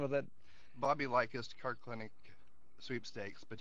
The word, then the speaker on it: Likis: L like us. You'll love us.